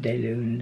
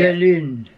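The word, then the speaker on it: Clair de Lune: Not de Lune. You say de Lune. De Lune. You gotta pucker your lips like no, this.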